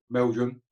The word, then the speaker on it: Meldrum: But what's really brightened me up is to see my buddy from Canada, Keith Meldrum.